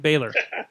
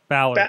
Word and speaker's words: Balor: Baylor. Baylor. Baylor. Baylor. Baylor. Baylor. Baylor. Balor. Balor. You keep on saying it wrong, Sorg. Well, anyways, there's that happening. Think of Valor, only with a B. Valor. Balor.